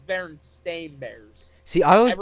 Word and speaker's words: Berenstain: or SCA Aaron hey like I'm at the Berenstein bears or berenstain bears Bernadine and I asked no it's berenstain bears see I went pronounce it like that